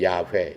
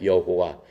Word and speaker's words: YHWH: 하나님의 이름은 YHWH예요. 그걸 발음을 하면은 야훼, 여호와 이렇게 얘기를 하는 거예요.